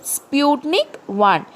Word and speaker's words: Sputnik: the answer is sputnik 1 pronounce it along with me sputnik one s-p-u-t-n-i-k and one okay sputnik one second question